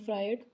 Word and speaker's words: Freud: इसकी spelling FREUD है। आप इसे याद रखने के लिए इसे फ्रूड बोल सकते हैं, लेकिन इनका नाम सिगमंड फ्राइड था। करेक्ट प्रोनाउंसिएशन है सिगमंड फ्राइड।